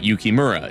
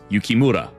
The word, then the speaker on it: Yukimura: like um in Japanese it's not yukimura it's yukimura like you roll that R um but who who